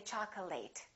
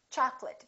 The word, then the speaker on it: chocolate: very common mistake chocolate a lot of my students say chocolate it's chocolate because it's a noun accurate affectionate intimate all